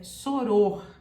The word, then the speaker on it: soror: você não pronunciar erroneamente O correto é Soror Soror só ouro choro ou